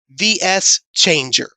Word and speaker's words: VS Changer: It's not a versus Changer. Figure I'll let you know on that, friends. If you pronounce the letters separately, VS Changer.